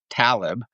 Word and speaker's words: Taleb: the scene and again talk about last name pronunciations I heard online recently it's Talib I was saying taleb and you said talib so his name gets